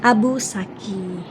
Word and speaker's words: Abu Sakhi: gitu Nah itu ya Abu saksi k tulisannya kayak gitu ke dalam Uzbekistan tapi kita membacanya Abu Saki nah ini dia masjidnya